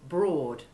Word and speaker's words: broad: all odd or fraud be careful to distinguish between the long o1 sound of board and the long a3 of broad listen to a sentence